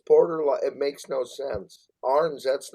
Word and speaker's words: Arens: And then we have, of course, with us Brynn Arens from. That's a weird name to pronounce. Yeah. Is it? But I did I get it right? Is it Arens?